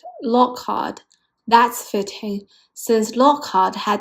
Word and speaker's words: Lockhart: Hard and hot are pronounced the same. So, the name sounds like Lockhart.